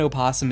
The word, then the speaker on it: opossum: If I was in Australia, the O in opossum is silent.